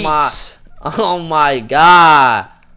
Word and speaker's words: lapis: It's lapis lazuli. It's pronounced lapis.